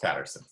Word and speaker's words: Patterson: P P am i pronouncing that correctly it's pronounced Patterson Patterson Patterson Martin ma'am how did that come